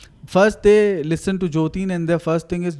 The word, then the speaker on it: Joteen: knows this that the thing is my spelling jotin's spelling is j o t double e n